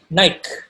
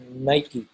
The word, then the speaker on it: Nike: is pronounced nike when i was younger i pronounced this nike i was corrected later on by uh one of the creative directors it's pronounced nike but do you know what nike pertains to